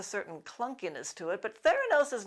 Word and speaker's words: Theranos: clunkiness to it but theranose is not all that slick or intuitive i heard several reporters mispronounce it as thoranos so neither the therapy